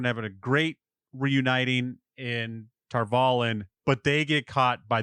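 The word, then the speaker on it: Tar Valon: Yes, Tarvalin. They're pronouncing it a little bit different, I think, but Tarvalin is how I would.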